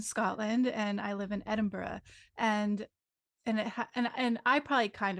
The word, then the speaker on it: Edinburgh: and I live in Edinburgh and and I probably kind of Americanize it too because I'm also from the US but like it's like a ugh sound at the end like Edinburgh and like